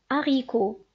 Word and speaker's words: haricot: Un H muet est un H qu'on ne prononce pas. On l'écrit mais on ne le prononce pas. C'est-à-dire, on donne un exemple: habillé, hérisson, haricot. Si vous remarquez ici, j'ai pas prononcé la lettre H.